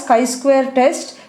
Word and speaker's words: chi-square: going to discuss about chi-square test this is pronounced as chi we call this as chi-square test the purpose of this test is nothing but